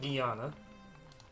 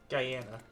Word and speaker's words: Guyana: Alright, 60 days to get Guyana. Guyana, sorry. Right, that would be the better pronunciation, right?